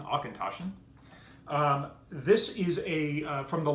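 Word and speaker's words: Auchentoshan: I have one which if you pronounce it phonetically is a concussion although the connect the correct pronunciation is Tasha rolls right off the tongue Arkan Tasha this is a from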